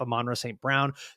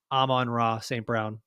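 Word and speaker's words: Amon-Ra St. Brown: they can't just stop am manra St Brown to to stop did I say it correctly no on Raw St Brown there we go we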